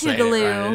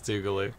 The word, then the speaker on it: Tougaloo: I'm saying it right. It is Tougaloo. It is Tougaloo.